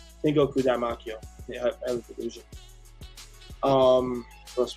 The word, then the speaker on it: Tengoku Daimakyo: It's the most intriguing one besides just Tengoku Heaven, basically, or Daimakyo. That's how you pronounce it. Tengoku Daimakyo.